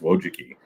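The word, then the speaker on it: Wojcicki: So those children, the two Wjuki, their last name is Wojiki. Don't ask me to spell it, but it's pronounced Wojuki.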